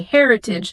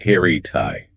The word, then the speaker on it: heritage: Many people read it phonetically and say heritage, making the ending rhyme with the word page or rage. That is incorrect. The ending is soft. It is pronounced heritai.